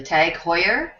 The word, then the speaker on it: TAG Heuer: up how to say this this is the tag heuer samedi more credit I looked up just confirmed